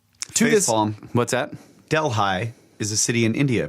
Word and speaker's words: Delhi: oh it's pronounced like Delhi yeah the H is silent the flimsy explanation let's